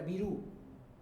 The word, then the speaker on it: Virú: en la sierra entonces en la sierra hay una tendencia a pronunciar la i casi como una e no casi como una e nadie dice exactamente así Silva sino algo así como selva o sí O me equivoco